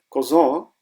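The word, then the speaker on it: Cousin: Strange है German में, आप इसको कज़न नहीं पढ़ेंगे, आप कोज़न पढ़ेंगे इसको। तो ये आप ज़रूर याद कीजिए कि मैस्कुलिन कज़न के लिए आप इसकी प्रोनाउंसिएशन देयर कोज़न करेंगे, देयर कोज़न।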